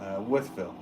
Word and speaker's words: Wolfville: Wolfville.